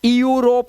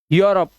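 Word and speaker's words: Europe: एन आगे चलते हैं इ यू आए तो यू से पढ़ो। जैसे ये ये यूरोप है। इ यूरोप नहीं है। यूरोप।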